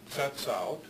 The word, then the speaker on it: Tsetsaut: And then there's another group of Athabascan-speaking people who in English, their name is spelled this way and is pronounced in English as Tsetsaut.